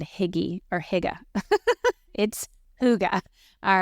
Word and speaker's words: Hygge: It's Hygge.